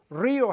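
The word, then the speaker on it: río: Like the word Rio has an accent on the I.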